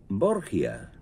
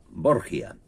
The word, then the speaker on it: Borgia: llamaba civilmente rodrigo borja pero al trasladarse a italia se cambió la pronunciación del apellido y quedó como lo hemos conocido borgia los papás borgia tienen